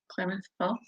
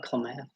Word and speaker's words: Klamath Falls: I'm not gonna pronounce the city, so Klamath Falls or Klamath. Klamath. Yeah. We don't do math here.